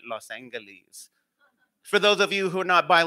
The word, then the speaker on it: Los Angeles: That's how we locals pronounce it, right? Los Angeles.